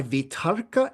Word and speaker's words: vitarka: it is accompanied by vitarka and vichaya. So it's accompanied by applied and sustained thought. So we've talked about vitarka and vichaya before, and that's, by the way, the Sanskrit pronunciation, because I'm used to the Sanskrit pronunciation.